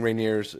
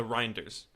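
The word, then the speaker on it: Reijnders: He's defending Reineers. Is that how you say his name? Reineers, whatever his name is. Uh Reinders.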